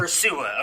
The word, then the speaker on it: Ursua: Ursua. Okay, I was going to say Ursua. Yeah, it's Olabisi Johnson in Minnesota. Gotcha. Yeah. John Ursua.